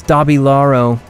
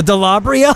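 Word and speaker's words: Dabilahro: Chikugensai says I showed you how to pronounce Dobby Laro." The big sword Ryu used. Yeah, it was Dobby Laro, right? What did I used to call it? The Delabria?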